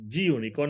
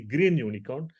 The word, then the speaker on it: Gunicorn: so but this is i just say g unicorn it's actually green unicorn go nikon somebody says it's g unicorn let's say it's like that g unicorn so why we need g unicorn because this one if